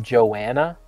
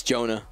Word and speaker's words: Jonah: Are you sure it's not Joanna? It's Jonah.